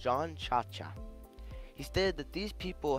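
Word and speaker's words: Jean Ciaccia: The internet says his name is pronounced John Cha-Cha.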